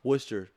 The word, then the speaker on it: Worcester: I walked in a doctor's office in Worcester, Massachusetts. Worcestershire? Most people call it Worcester. It's pronounced Worcester.